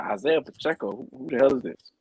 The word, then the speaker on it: Pacheco: Ronald Jones, Pacheco, whatever his name is. I'm gonna just call him the rookie because I can't pronounce his name. Pacheco.